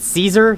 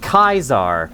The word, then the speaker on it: Caesar: If people pronounce it Caesar, they're not on his side. If they pronounce it Kaisar, they are on his side cuz it's the true way.